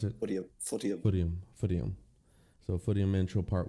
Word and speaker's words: Footium: Is that how you pronounce it? Footium.